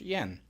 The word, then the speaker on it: Jan: way my name is Yin it's spelled Jan but it's pronounced Yin I'm an immigrant and